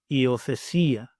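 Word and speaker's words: υιοθεσία: The next 2 we have are both I sounds, so we have I, and it makes the sound I, as in the word see, see. And the Greek example, iothesia, iothesia.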